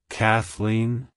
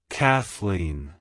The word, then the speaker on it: Kathleen: it's pronounced as Kathleen Kathleen Kathleen to pronounce it correctly emphasize the first syllable Cath and the second syllable Lean Like hello Kathleen goodbye Kathleen if you